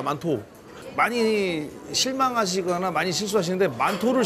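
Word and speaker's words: 馒头: 만두를 혹시 헷갈리실까 봐 설명을 드리는데 만두를 그대로 발음하면 만토입니다. 만토.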